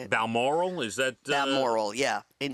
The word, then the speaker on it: Balmoral: doctors were concerned the family was rushing to balmora yeah is that how you say it balmoral is that moral yeah in scotland and i